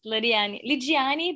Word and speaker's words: Lidiane: This is, I'll let you introduce yourself, Lidiane. Is that how you say it? Yes, Lidiane, but everybody call me Lydia in the United States.